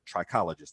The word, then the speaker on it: trichologist: know kind of your branding is being a trichologist did i say it right yes okay so